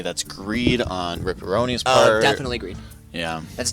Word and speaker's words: Ripperonis: I mean, if you spell it like pepperonis, then it's fine. Then it's right. Neil, can we get an executive decision on this? It's Ripperonis.